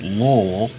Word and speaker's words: Louisville: It's pronounced Lowell.